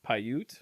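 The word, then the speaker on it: Paiute: Americans in the area I'm G to try to say the name it's pyute yep okay that sounds mat says yep that's that's phonetically that's how I would pronounce it but these guys started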